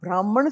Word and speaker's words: Brahman: the highest truth Brahma in English Brahma because there's a nasal sound it is written as n at the end brah it is written